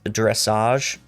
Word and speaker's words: dressage: I guess it's dressage because it rhymes with mirage.